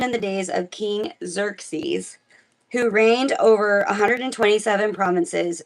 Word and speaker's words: Xerxes: I think it's Xerxes. It is Xerxes.